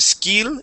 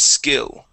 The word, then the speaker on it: skill: go to skill okay we're going to use the short sound so instead of skill it is skill skill all right very